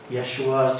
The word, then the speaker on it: Yeshua: Yeshua, 2 syllables. Yesh. Sounds a lot like yes, doesn't it?